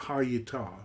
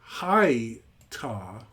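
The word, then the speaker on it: היתה: Because he clearly says it, hayata, right? But if someone said, no, you should say it hayta, why not read this first as a closed syllable? Why read it as open, short, closed?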